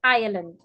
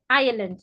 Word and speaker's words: Ireland: I-R-E-L-A-N-D is pronounced Ireland. Ireland, not Ireland.